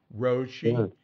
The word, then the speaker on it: Roshi: saying in English, like Roshi, and that's just we tend to say next to last syllables really strong here, and the Japanese tends to be more even.